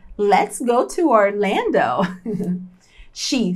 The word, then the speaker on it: Orlando: E olha a pronúncia correta de Orlando. Em português é assim, Orlando, né? Lando. Em inglês vai ser Orlando.